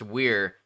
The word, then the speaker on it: weir: Pronounced weir, a type of low dam.